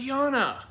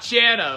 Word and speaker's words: Jana: Go subscribe to Yana. Oh my gosh, stop lying. Her name is Yana, not Jana.